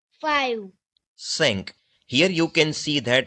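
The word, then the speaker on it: cinq: Sank. Five. Sank. Here you can see that here we have written the pronunciation how we should speak those words in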